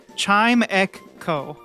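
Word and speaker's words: Chimecho: Chimeo.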